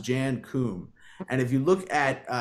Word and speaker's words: Jan Koum: Now, he is Ukrainian, so I believe it's pronounced Jan Koum.